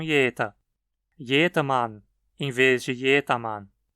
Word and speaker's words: jeder: É muito frequente, nesse caso, que se ouça jeta e não jeta.